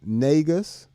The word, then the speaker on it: Negus: Negus is how you pronounce it.